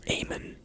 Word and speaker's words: Eamon: Oh, his name is Eamon. That's how you pronounce it.